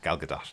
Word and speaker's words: Gal Gadot: we were kids, and you kind of think if there's a T on the end of it, then that's probably silent, and that's maybe where we get it from. But yeah, Gal Gadot, definitely.